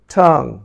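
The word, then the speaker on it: tongue: ঠং, এখন ইউর উচ্চারণ হয় কি হয় ঠঙ্গু, কিন্তু সেটি নয়, হবে ঠং, ঠং।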